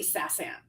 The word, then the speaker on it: SaasAnt: But I say Sassant. yeah. Saasant. And just FYI, if you call their number and you get their recorded information about something, they say Sassant. Okay. Yeah. Well, if they pronounce it that way, then we'll pronounce it